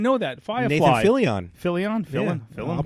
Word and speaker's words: Fillion: Fillion. Yeah. I'll pronounce it correctly.